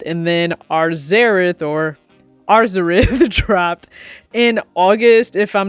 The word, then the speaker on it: Arzareth: alva and arzareth and yes there is an r in there i know a lot of people didn't pronounce that when the shoe first came out just kept saying azareth but there's an r so arzarith or xerath however you would like to pronounce it just make sure you add the r let's start this video